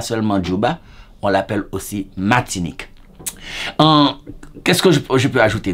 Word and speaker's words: Martinique: Martinique, bien sûr, on prononce pas le R dans le créole réel en Haïti, on dit Martinique.